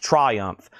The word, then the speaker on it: Triumph: Pronounced Triumph, like it's 2 separate syllables.